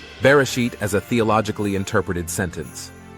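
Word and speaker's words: בראשית: Yod sound, like Y. In this word, it combines with vowels to make an E sound. Tav sound, like T as in tall. Altogether, the word is pronounced Bereshit and means in the beginning.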